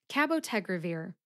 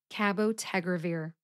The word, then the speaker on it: cabotegravir: Revere has five syllables Ka like cat Bow like a hunting bow tag which rhymes with keg like a keg of beer that's right I said